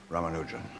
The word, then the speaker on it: Ramanujan: Rammanujan. Am I pronouncing that properly?